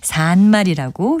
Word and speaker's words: 산말: 동사 살다와 관련된 것이니까 이건 역시 산말이라고 길게 발음하고요.